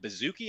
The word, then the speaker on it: Baszucki: Recently, if you guys out there didn't see, their CEO, David Baszucki, I believe is the right way to say